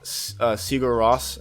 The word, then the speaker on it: Sigur Rós: That's what I got for Christmas, and so I have the I think it's pronounced Sigur Rós album on the way, the post-rock group from Iceland.